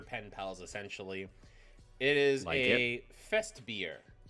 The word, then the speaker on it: Festbier: It is Fest beer. Fest beer. Fest beer. It's spelled German as well.